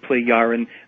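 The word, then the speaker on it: Plejaren: uh play orange yeah so the j is a a y or an i kind of a sound play yaren they the play ids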